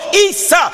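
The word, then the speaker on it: عيسى: are you preaching about in Arabic Jesus is pronounced Esau or Issa so in the sense Jesus is the end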